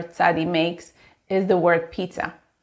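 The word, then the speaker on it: צדי: The letter tzadi, pronounced, makes a ts sound, which is personally how I do a snake, but maybe that's only me. Tzadi sounds like the letters T and S together, and that's why I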